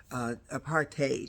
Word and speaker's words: apartheid: the right to have apartheid apartheid that's really the way you pronounce it to have it uh